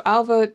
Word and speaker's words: Ailbhe: Ailbhe, by the way, is an Irish name, so that's how you pronounce it. It's a BH, which is a V, like a V sound in Irish.